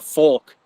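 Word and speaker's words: Volk: uh so the the folk that's German it's uh v o l k v in German is pronounced with an f um you have a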